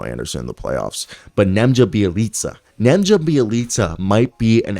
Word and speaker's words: Nemanja: It's Nemanja, right? Not Nemja. Nemanja. My apology if I had been saying that wrong, because I just found out with Serbian names, the J is pronounced with a Y sound.